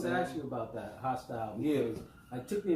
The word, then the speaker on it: HaStyle: Yeah, I wanted to ask you about that, HaStyle, because it took me a minute to even connect HaStyle to HaStyle. Right. H-O-S-T-I-L-E. Right. To HaStyle, which is... It was the same pronunciation. Right, same pronunciation.